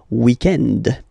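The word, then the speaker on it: week-end: So if we're talking about the weekend, okay, but then pronounce it the French way, weekend.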